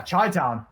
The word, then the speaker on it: Chi-Town: What a reaction play as Chai Town, apologies. Yeah, Chai Town, I said it right for one, will get a great lead heading into this P3.